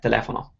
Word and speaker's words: telefono: what dictionaries will do, they will have a way of telling you which syllable to stress. So a lot of dictionaries will put an apostrophe before the syllable that you're stressing. So in this case, the apostrophe is before the le, so it's telling you that you should stress the le, telefono.